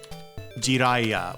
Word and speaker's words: Jiraiya: They spell it like this. But if you've watched Naruto, you know what this guy's name is. It's Jiraiya.